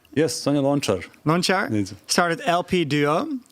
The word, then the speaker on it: Sonja Lončar: the pianist, I'm very sorry if I don't pronounce it correctly, Sonja Lonkar, Yes, Sonja Lončar.